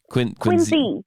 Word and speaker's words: Quincy: Quincy, Mass. Quincy, pronounced with a Z, because that's how the family pronounced it.